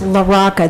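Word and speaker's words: LaRocca: It's Loraca. That's spelled L A capital R O CCA.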